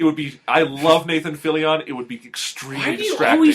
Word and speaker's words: Fillion: be i love nathan phillion it would be extremely distracting can we say his name like that everyone says his name is nathan it's not philly on okay jesus yeah you